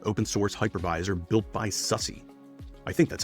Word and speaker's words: SUSE: Harvester is a modern open source hypervisor built by SUSE. I think that's how they pronounce their name.